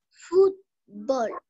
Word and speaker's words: fútbol: aguda si mira la palabra aguda tiene que tendría que tener estás fútbol y decimos fútbol no fútbol ven entonces esa palabra